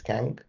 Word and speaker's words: Kang: His name is pronounced as Kang.